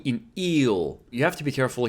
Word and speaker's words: い: E is pronounced like E in eel. You have to be careful here because in eel, it's a long vowel, eel, whereas in Japanese, it's a short one, E.